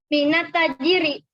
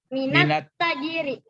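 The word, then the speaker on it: من التاجر: Minat tajiri. Iya, ditekan suara sedikit. Minat tajiri. Minat tajiri. Ya, minat tajiri. Jadi ini kenapa tidak dibaca minal? Karena huruf ta termasuk huruf matahari.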